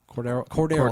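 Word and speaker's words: Cordarrelle: They've got Greg Jennings, Cordell Patterson, and Cordell. I think that's how you say his name. Cordero.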